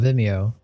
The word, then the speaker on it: Vimeo: Vimeo. Yeah. Oh, Vimeo. Or that's how I pronounce it.